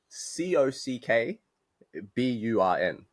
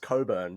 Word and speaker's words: Cockburn: It's spelled C O C K B U R N, right? which you would assume is pronounced cockburn, but but it's not. It's pronounced it's pronounced coburn, right?